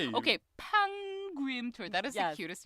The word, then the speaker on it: Pangim: Pangim tour. That is the cutest name I've ever heard. Pangim. Okay. So, it sounds because it rhymes with Yangim.